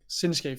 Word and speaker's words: Shinsuke: Shinsuke. Thank you. I always do it wrong. I throw an H in there, so it's not it's not SCH. It's just Shin.